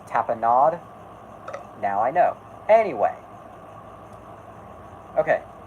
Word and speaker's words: tapenade: I specifically, tonight, want to talk the rise and downfall, because I feel that's a very, it's pronounced tapenade.